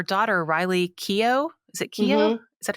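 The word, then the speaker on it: Keough: and um her daughter Riley Kio is it Kio is that how you pronounce it yeah and the name of the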